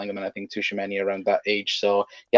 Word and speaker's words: Tchouaméni: It's Tchouaméni because he chews them up and spits them out. Oh, there we go. My pronunciation is not the best anyway. But no, Tchouaméni.